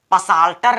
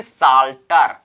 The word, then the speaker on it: psalter: पी के just बाद, पी के तुरंत बाद किसी भी वर्ड में यस का प्रयोग किया जाए, यस का यूज किया जाए तो समझ लेना पी का लोप हो जाता है, पी हमारा साइलेंट रहता है। आइए एग्जांपल से समझते हैं। जैसे यहां पर है PSALTER, इसको हम पसाल्टर नहीं पढ़ेंगे, इसको हम पसाल्टर नहीं पढ़ेंगे, इसको केवल हम पढ़ेंगे साल्टर। क्या पढ़ेंगे दोस्तों, साल्टर।